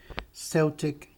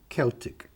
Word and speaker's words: Celtic: Mas a cultura é chamada de Celtic, ou seja, é a mesma palavra com duas pronúncias diferentes, não altera em nada. Celtic, Celtic.